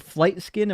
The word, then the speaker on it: Flight Skin: I think Arvin and Flight Skin, then Arvin. Welcome in. Is it Flight Skin? Am I saying that right? Yeah, you're saying it correctly.